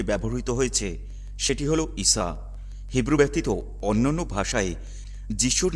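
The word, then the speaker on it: عيسى: পবিত্র কুরআনে তার নামের যে উচ্চারণটি ব্যবহৃত হয়েছে সেটি হল ঈসা।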